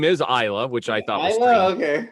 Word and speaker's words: Isla: seen her interview and and her name is isla which i thought okay right and i'm not